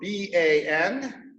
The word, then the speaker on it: Banya: Okay, so that's spelled B-A-N-Y-A, Banya.